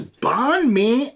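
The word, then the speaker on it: Bánh mì: they're probably Chicago illo uh anyways this is Bon Me Emperor and this is a Simco and nectar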